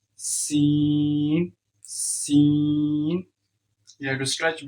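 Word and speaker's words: سين: So how you can pronounce the C? Seen, for example, when you say, "Hey, I will see you later." So seen, you had to stretch it, and you had to read from your teeth, and it's also whistling sound.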